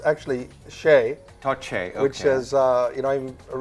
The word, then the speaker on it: Shea: It's actually Shay. Todd Shay, okay. Which is, I'm originally, my ancestors are from Ireland, so Shay is an Irish name. Shay.